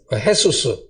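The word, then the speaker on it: Hesus: 헤수스.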